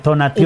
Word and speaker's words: Tonatiuh: Dijo Dios Tonatio, sí, o Tonatío, ¿cómo se dice? Tonatiuh.